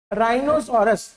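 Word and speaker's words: rhinoceros: राइनोसोरस तो राइनो में भी ह नहीं आया।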